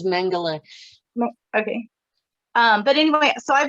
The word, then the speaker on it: Mengele: these experiments, like Joseph Meneghel on steroids. So I've been getting memories. That's how you pronounce it, is Mengele.